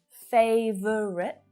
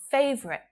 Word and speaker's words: favorite: So instead of favorite, favorite. It's easier, it's faster to use 2 syllables, so why would you use 3?